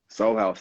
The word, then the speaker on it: Sol Haus: Is that how you pronounce it? Sol Haus, right? Soul House, absolutely.